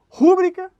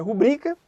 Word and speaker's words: rubrica: O que a gente costuma ouvir e que está incorreto? Interim, quando na verdade é ínterim. A gente costuma ouvir rúbrica, quando na verdade é rubrica.